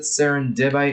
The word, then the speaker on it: serendibite: how you pronounce it serendibite it sounds like it's supposed to like sound similar saying serendipity or serendipity or something